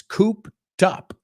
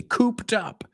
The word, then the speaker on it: cooped: And you even know how to pronounce it because, fijaos, it's cooped up. ¿Dónde he puesto la T? I didn't say cooped up. I said cooped up, cooped up. Say it with me, cooped up.